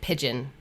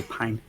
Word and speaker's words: Pijn: For everyone listening, your instinct will be to pronounce it pigeon, but it's actually pine.